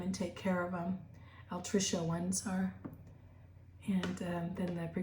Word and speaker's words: altricial: So altrical, actually it's pronounced altricial, or altricial and precocial.